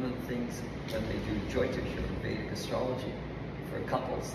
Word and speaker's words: Jyotish: And one of the things that they do, Jyotish or Vedic astrology, for couples, the parents do it for their kids. Kids haven't even met. What is it called? Jyotish.